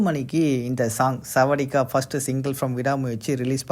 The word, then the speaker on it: Sawadeeka: First single செவடிக்கா, இந்த சாங்கை பொறுத்த வரைக்கும் நம்ம ஆல்ரெடி சொல்லியிருந்தோம் இந்த லிரிக்ஸில் தான் சாங் ரிலீஸ் ஆக போகுதுன்னு. நிறைய பேர் சாவடிக்க அப்படின்ற மாதிரி ப்ரொனவுன்ஸ் பண்ணாங்க. அப்படிலாம் இல்லை, செவடிக்கா அப்படின்னா ஹலோ அப்படின்றது தான் மீனிங்கு.